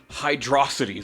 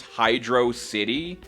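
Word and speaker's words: Hydrocity: the water level, but this song Welcome to Hydroity Zone. I'm kidding. If you're stupid, that's how you pronounce it. But it's how a lot of people pronounced it for years before Sega confirmed that it's Hydro City.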